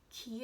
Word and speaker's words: ki: They live in fairly reserved areas and train using martial arts, and use, I think it's Ki is how it's pronounced in this. It's Chi, but with a K instead of CH.